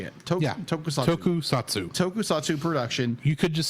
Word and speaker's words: Tokusatsu: Tokusatsu. Tokusatsu production. You could just say toku for ease of use. Tokusatsu. I'm going to say Tokusatsu. Okay. Just giving you the official short word. Yes, Tokusatsu franchise, offering a neo-light look at the city-smashing